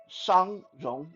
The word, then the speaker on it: Shang Rong: Shang Rong, that's Shongrong.